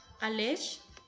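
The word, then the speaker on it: alax: Alesh, que es la correcta pronunciación de esta palabra, Alesh es nacer.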